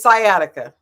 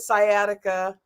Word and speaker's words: sciatica: know what how do you say it it's sciatica sciatica now listen I don't know why y'all